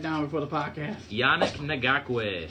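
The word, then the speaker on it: Ngakoue: i had it down before the podcast janik nagawee nagakway right yeah i'm sorry i'm terrible with those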